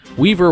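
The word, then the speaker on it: Wever: Weaver would be the American pronunciation, so that's what I'm going to go with.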